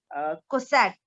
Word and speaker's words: Cossack: I think Kazakh. Well, how do you spell? How do you pronounce it? I really don't know. It's Cossack Russia dancing.